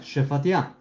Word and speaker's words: Shephatiah: How Shephatiah pronounced? Like that, Shephatiah.